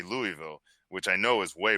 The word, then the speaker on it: Louisville: optional, I think there's a better chance that Louisville shows up with that.